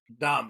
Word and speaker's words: Dam: We were I think they pronounce tripping it on mushrooms. Dom, yeah, you're right.